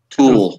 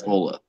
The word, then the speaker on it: Tula: Tool. Tool. It's tool, but everyone calls it Tula.